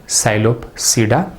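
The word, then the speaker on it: Psilopsida: P silent है, साइलोप्सिडा।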